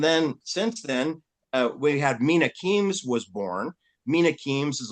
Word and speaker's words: Mina Kimes: Force pilot and married a Korean woman, produced Mina Kimes. That's how it's pronounced.